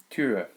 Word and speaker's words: Tür: you did an open and then closed your lips, it's that kind of a sound. Tür.